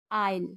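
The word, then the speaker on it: aisle: जी ई S changes S का आखिरी rule जब एस के बाद एल आए तो वहां पे एस साइलेंट होता है जैसे आई एस एल ए एन D Iceland A आई एस एल आईल कुछ अन्य वर्ड में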